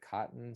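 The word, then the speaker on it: Coton: a french breed uh i think you pronounce it cotton c-o-t it's c-o-t-o-n yeah i have a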